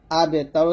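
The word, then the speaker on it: الأبتر: ইন্না শানি আকা, হা পেশ হু, ওয়াও গেলামকে ধরবে, ওয়াও লাম জবর ওয়াল, হুয়াল আবেতর, আবতার বলা যাবে না, আমরা এখানে বাটা কলকল করি না, বাটা বসে কলকল করতে হবে।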